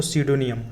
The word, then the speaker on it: pseudonym: नाम दे देता है, उसको बोलते हैं दोस्तों स्यूडोनियम। क्या बोलेंगे, स्यूडोनियम। अच्छा वर्ड, ध्यान रखिएगा। इसकी स्पेलिंग देख लो, पी से स्टार्ट होती है, PSEUDONYM।